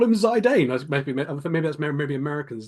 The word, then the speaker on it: Zidane: because okay cu cu um cuz I say zidan from Final Fantasy 9 and that's because of